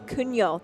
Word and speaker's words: Cugnot: How do you pronounce it? Cugnot.